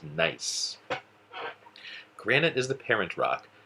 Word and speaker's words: gneiss: a metamorphic rock called nice gneiss that's pronounced nice granite is the parent